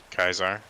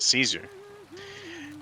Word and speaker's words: Caesar: with that deck named Kaisar, Mm-hmm. and everybody's gonna pronounce it Caesar, and they're gonna say,